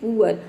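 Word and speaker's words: poor: करेंगे उ अ देखिए जब किसी वर्ड में डबल ओ के बाद क्या हो आर हो तो वहां पे डबल ओ को हम उ प्रोनाउंस करेंगे उ अ यहां प देख सकते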